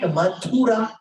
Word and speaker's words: Madhura: Sir, you're mispronouncing it. Isn't it Madhura? In many places of our Puranas, it is referred to as Madhura. Madhu is honey.